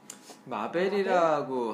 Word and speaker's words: 마벨: 마벨이라고 하시는데 네. 어렵습니다. 되게 어렵습니다. MABLLE예요. 배를 길게 발음하면 되겠네요.